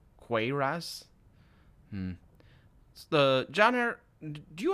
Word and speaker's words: cuirass: Smith yourself well I know I know it's pronounced queer ass cuirass hmm the janitor do you have a daughter